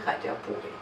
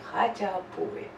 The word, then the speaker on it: Khachapuri: Adjaruli Khachapuri. Che is again a very hard sound in Georgian language to pronounce for the foreigners, so say with me, Adjaruli, Adjaruli Khachapuri.